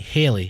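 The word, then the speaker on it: Halle: people Hy Bailey I say her name right Haley Hy Bailey yeah uhhuh Bailey uhhuh reveals she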